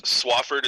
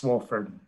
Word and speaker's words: Swofford: Real quick, the is Swafford, is that what is? Is that the company? I believe it's pronounced Swofford, SWOFFORD, Excavating LLC.